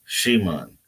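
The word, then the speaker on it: שמעון: Again, there is more than meets the eye with this name between the M and the N in Simon, pronounced in the modern Hebrew more like Shimon.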